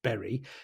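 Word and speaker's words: Bury: by in Whitefield Berry is not pronounced buy it's Berry for anyone reading reading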